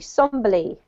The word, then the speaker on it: somberly: So I know it looks like sombrely, but actually it's somberly, okay?